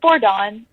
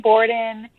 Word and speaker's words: Bordan: It's Bordan, but if you were to pronounce it in Hungarian, which is where my parents are from, it would be Bordan, and they pronounce they say the last name first. So, yeah, Bordan, but Bordan is my name, is how I guess I pronounce it here. I go between Borden and Bordan, but Borden people think